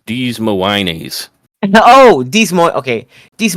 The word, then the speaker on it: Des Moines: I believe the correct pronunciation is Des Moines.